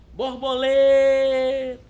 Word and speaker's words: borboleta: Borboleta. O lê se destacou, portanto, é a sílaba tônica.